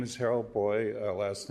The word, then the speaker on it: Beu: my name is Harold boy last name is spelled beu it's German EU and German is pronounced boy like in Freud I'm a retired unitary